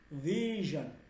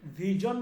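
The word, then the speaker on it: vision: তাহলে এইটা হচ্ছে, এইটা কিন্তু আমি সরাসরি জ বলি নাই, আমি কিন্তু জ বলে বিজন বলি নাই, আমি বলছি ভিশন, জন, ভিশন। ক্লিয়ার হয়েছে উচ্চারণটা? জি। ভিশন, ভিশন, আমি ভিজন বলি নাই, ঠিক আছে।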